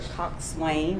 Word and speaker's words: coxswain: person is referred to as the coxswain, I believe is the right way to say that word.